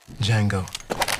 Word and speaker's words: Django: dirty what's your name d Jango d j a n g o the D is silent adult supervision is required